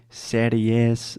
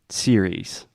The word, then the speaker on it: series: And again, this is just the E sound at the end. There's no serious, not serious. I hear a lot of different variations of that. Series.